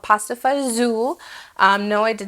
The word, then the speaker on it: fagioli: U for the most part it's called pasta FAO um no I did not misspell the caption there's no z in it but that's how it's pronounced in most places especially where I grew up pasta Fu um you've heard it some people call Pasta